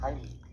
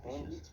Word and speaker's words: Heimlich: Bien, vamos a ver en este video la maniobra de Heimlich, que por cierto, esa es la pronunciación correcta porque está en alemán, la mayoría dice Heimlich, pero bueno, se entiende de qué se trata.